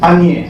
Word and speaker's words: unier: Y lo interesante es esto, que ese an, Lacan crea un neologismo y dice unier, que se lee en francés anier, se escribe U-N-I-E-R, es una condensación de an y de nier, uno que niega.